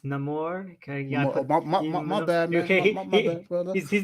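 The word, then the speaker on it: Namor: all I gotta apologize it's pronounced no more okay yeah he's not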